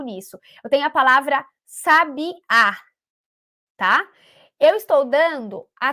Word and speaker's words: sabiá: Eu vou chamar a palavra sabiá. Eu estou dando a tônica na última sílaba, no último pedacinho.